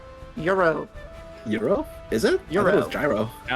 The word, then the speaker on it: gyro: Gyro. It's pronounced Euro.